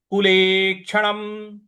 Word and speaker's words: कुलेक्षणम्: कुलेक्षणम। कुलेक्षणम। ले के बाद जो कुले के ले के बाद जो छ क्षत्रिय वाला है उस पर हमको थोड़ा सा आघात देना है।